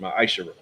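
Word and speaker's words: מעשר: Means 10th in Hebrew and is pronounced Ma'ashara. 10% of every penny of any increase the Lord gives you, give to the treasury department or teacher.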